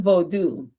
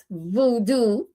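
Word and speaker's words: Vodou: Haitian vodu. And by the way, it is not voodoo like they pronounce it.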